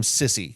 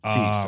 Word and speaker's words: Cisse: His name is not it, but if he doesn't play well, I'm going to be calling him Sissy because it's spelled Cisse. Okay. Cease, I believe is how it's pronounced.